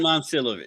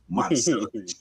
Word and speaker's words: Momcilovic: Milan Momcilovic. Now I gotta say it right because I like that. Momcilovic.